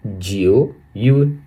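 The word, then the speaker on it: 九月: जिओ यूए।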